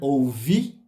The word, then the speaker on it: ouvir: que merecem nosso cuidado quando ouvir não tem acento mas a gente fala da tônica na última sílaba né que é o imperativo ouvir que me disseram é uma palavra no passado então a gente dá tônica dela na metade da palavra não no finalzinho né disseram depois vamos à